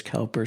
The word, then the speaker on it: Cowper: Some people pronounce it Cooper. I'm going with Alister Begg. He should know. He said it's Cowper so I'm sticking with him but he was Cowper's pastor for a long time.